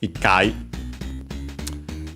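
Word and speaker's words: 一回: of course, there's this phonetic change, ichi, also pronounced as itsu, and then the I or U dropped, it, and then of course the T became simply the double consonant because it was easier to pronounce.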